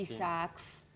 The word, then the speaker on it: Isaacs: Isaacs se escribe con doble A. Ah, sí. Isaacs. Como Alcohólicos Jorge Anónimos.